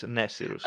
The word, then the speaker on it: Nesirus: Yes, it's pronounced all together. It's Nesirus, pretty much.